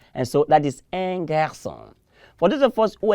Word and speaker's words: garçon: And so this time our C has that snaky thing under it. And so we pronounce this as what? S. And so that is un garçon.